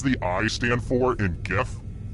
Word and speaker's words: GIF: What does the I stand for in GIF? And yes, I pronounce it with the G sound, not the J.